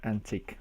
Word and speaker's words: Antich: It's pronounced antique.